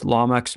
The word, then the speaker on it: Lamech: So the good news is Lamech's name is not the same. It actually is just the way that it looks.